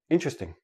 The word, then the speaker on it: interesting: word is interesting but in everyday speech interesting interesting interesting I have four syllable syllables when I actually say it naturally it becomes three syllables and that T and E are become like a CH but that's we'll talk